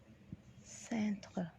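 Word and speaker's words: cintre: بننطقها ازاي؟ بننطقها سنتر. نطقها سهل جدا، سنتر.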